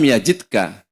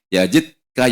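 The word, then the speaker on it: يجدك: Kemudian Allah melanjutkan alam yajidka Bukankah artinya Allah itu telah menjumpai kamu atau menemui kamu yazidka kan kita bacanya yazidka seolah Yazid katiman bukan yajidka yatiman Allah menjumpai engkau yatiman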